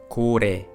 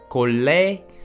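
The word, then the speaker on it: 고래: okay the first example Cody Cody Cody means whale as you heard it doesn't sound Kalle nor Caray which means it doesn't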